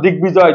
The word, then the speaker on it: দিগ্বিজয়: তাহলে বাংলা সন্ধি সূত্রে আগত ক এর স্থানে গ, মানে কটা যদি গ হয়ে যায় ওই গ সাথে যদি ব যুক্ত হয় ওই বর উচ্চারণ ঠিক থাকবে।